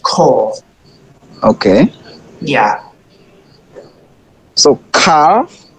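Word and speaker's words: כָּל: tradition from your teacher this word is pronounced coal okay yeah yeah so car so it's cold it's not call it's coral Coral yeah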